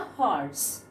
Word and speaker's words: horse: But here, see, a horse, right? A horse means here H, we are getting the sound of H, not O.